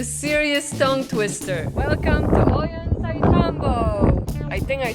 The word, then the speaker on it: Ollantaytambo: Welcome to Ollantaytambo. I think I said it right. Ollantaytambo.